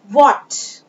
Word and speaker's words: what: What, H is silent here, calf, L is silent here, CALF, we will not read it calf, हम इसे calf ना पढ़ के क्या पढ़ेंगे?